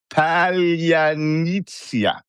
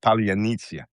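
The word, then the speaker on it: паляниця: Ukrainian attack drone now, Palyanitsia. It turns out Russians cannot pronounce this word because it has a sound in there that is not part of the Russian Cyrillic alphabet.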